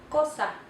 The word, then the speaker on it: cosa: C, cosa. C, cosa. And here we have another word, cero. Cero makes the soft C sound. Cosa makes the hard C sound.